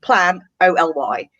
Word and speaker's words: Planoly: So I would say Planoly. So it's Plan-O-L-Y. But other people pronounce it Planoly.